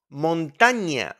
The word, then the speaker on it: montaña: Now, the ñ in Spanish sounds like an onion. Onion. So please don't pronounce the ñ like an N. That's a common mistake. So remember the sound in onion. España. España. We don't say Espana. It's España. Remember? Niño or niña. Niño. Montaña. Remember the onion.